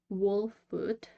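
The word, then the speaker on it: Wolfwood: us some bits about wol foot that's how it's supposed to be pronounced but I will probably say walls foot many times because that's what I'm used to say uh like I've said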